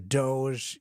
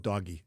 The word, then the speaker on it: Doge: thing, but with the Doge, Elon Musk, Vivek Ramaswamy. I call it doggy. I still like that. But you can call it Doge. Many people will mispronounce it, I'm sure.